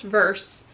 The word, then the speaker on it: Verse: So everyone has been asking me about his first name, like, how do you say his first name? It's just Verse.